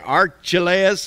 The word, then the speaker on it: Archelaus: But when he had heard that Archelaus, that's how you say it, was reigning over Judea instead of his father Herod, he was afraid to go there.